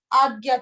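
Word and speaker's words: Ajna: Agya chakra.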